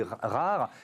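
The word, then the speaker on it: R4RE: Alors ça s'écrit R4 RE. Ça se dit rare.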